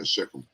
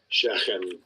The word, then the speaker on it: Shechem: See how they pronounce it. That's always interesting. Oh, this is like Shechem. Strong's 87927. Shechem.